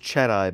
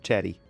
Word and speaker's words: Chatty: so not chatty yeah no chatty with an i I guess it could be pronounced chedi but it's not it's it's chatty um moving on to